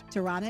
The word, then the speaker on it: Tirana: the first is albania tirana how do you pronounce that tirana hirana tirana is correct norway oslo oslo that is correct